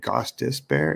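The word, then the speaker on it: Gostisbehere: ghosta bear holy smokes how do you say his name is It Gos dis bear it is gos dis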